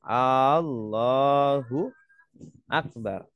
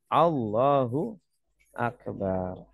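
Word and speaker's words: اللهُ أكبر: Jangan bacanya A-nya panjang, seumpama. Kalau A-nya panjang, Allahu Akbar. Ini salah, ya. Artinya kalau panjang, yang harusnya bacanya pendek, Allahu Akbar.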